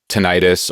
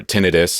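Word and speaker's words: tinnitus: You know I I have a friend who has uh tenitis or tinidis. I've heard it pronounced both ways which is just a constant ringing in your ears.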